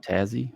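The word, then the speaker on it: Tassie: trying to say yeah tazzy okay and just remember two syllables keep it easy and uh so yes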